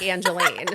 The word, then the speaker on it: Angeline: Everyone says Angeline because it's spelled like Angeline, so it's fair.